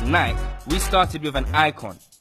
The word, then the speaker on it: Nike: In a city where Nike is pronounced Nike, we started with an